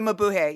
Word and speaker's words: Mabuhay: When you were talking about San Francisco, I instantly started thinking about, and you'll correct me if I mispronounce it, Club Mabuhay. The Mabuhay, yeah.